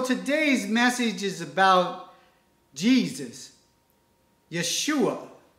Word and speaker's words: Yeshua: And so today's message is about Jesus, Yeshua that is how you say Jesus in Hebrew and our Lord and